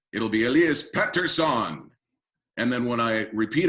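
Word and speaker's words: Pettersson: They all pronounce it, around the same way, but I wanted to use a little bit of how it's pronounced where he's from, and a little bit of how it's pronounced here, and blend two.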